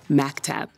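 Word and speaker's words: مكتب: It is written like this, even though it's pronounced like maktab.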